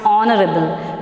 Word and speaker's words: honorable: so always that means at that time h is what's silent in the same manner